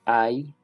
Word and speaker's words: I: Entonces este es I, que significa yo. Se pronuncia tal cual como cuando usted se machuca un dedo y usted dice ay, en ese momento está diciendo yo, ¿cierto?